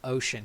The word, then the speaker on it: Oisin: You decided guys, to be- literally, you can call him Ocean. He expects you to mispronounce it.